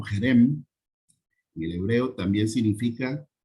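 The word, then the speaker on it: חרם: En hebreo es la 2764, se pronuncia Jerem y significa objeto maldito, destinado a destrucción.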